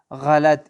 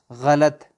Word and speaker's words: غلط: میں کیا پڑھیں گے، قا سے غلط، کیا پڑھیں گے، غلط، ان غلط است، مثلا ایرانی کہتے ہیں یہ غلط ہے، ان غلط است، تو غا، غا کی آواز نکالیں گے، غا، غلط۔ خوب صحیح غلط، یہ